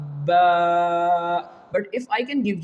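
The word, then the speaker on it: باء: The last example of this quality is of letter Ba. Which will pronounce from our both lips. Here you can see Ba Ba But if I can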